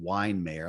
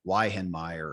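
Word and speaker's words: Weihenmayer: So if you look, his name's really hard to spell, but it's actually pronounced Weinmare. It looks like Weihenmeyer or something like that.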